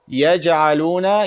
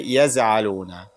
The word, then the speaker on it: يجعلون: Pronouncing Jim as za. So, and instead of saying yaj'aluna, you say yaz'aluna.